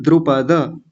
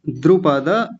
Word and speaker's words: द्रुपद: इसको थोड़ा ध्यान से देखेंगे, द्रुपद बोलते हैं, द्रुपद, द्रुपद नहीं, द्रुपद। द्रु, सबसे पहले तो द्रु को देखिए, द्रु, छोटे ऊ की मात्रा है, जल्दी बोलेंगे, द्रु। और आगे है पद, द्रुपद, पद नहीं पद, ऐसा बोलेंगे, द्रुपद पुत्रेण।